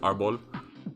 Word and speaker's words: Arbol: It's actually pronounced Arbol, which is Spanish for tree.